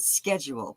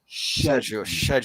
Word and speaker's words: schedule: you pronounce it well Americans pronounce it schedule but the Brits pronounce it sedule shedule shedule s c makes a sh sound and that makes sense